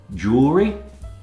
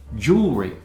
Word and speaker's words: jewelry: Jewelry, ornaments people wear for adornment. Jewelry. Often mispronounced as jewelry, but it's jewelry.